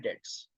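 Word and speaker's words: debts: The second the eighth rule is, rule number 8 फॉर बैड डेट्स। बैड डेट्स, here B is silent.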